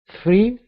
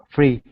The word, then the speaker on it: three: fre good so what the the r makes it a little bit more tricky right because you have to do the th and then you have to go straight into an R so that could be